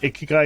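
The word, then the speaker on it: 生き甲斐: know oh yeah my clients and i can't pronounce the japanese word ikigai is how you say it so so i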